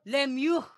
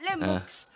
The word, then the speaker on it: Lemieux: I and by the way it's from it's pronounced Mario Lemieux not Le Max let me and it's not Roy one right